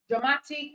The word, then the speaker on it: dramatic: ends with I okay so the stress or the stress syllable in dramatic is the syllable before I see which is M okay which is mat so dramatic dramatic all right the stress